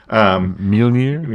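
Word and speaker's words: Mjölnir: I can't never pronounce that right. Mjolnir?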